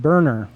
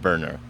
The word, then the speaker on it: Boerner: He said that you sometimes pronounce it Boerner. Well, so the rest of my family pronounces it Boerner. For whatever reason, my dad just decided that it was pronounced Boerner, and that was what I've gone with my whole life.